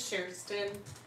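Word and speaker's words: Kerstin: asking me if IO no my name is Sheron and if you spelled it wrong I wouldn't be mad at you because it's spelled it's a Swedish name so KJ yep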